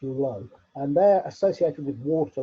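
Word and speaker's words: Luu: It's spelt L-U-U, but pronounced Lo.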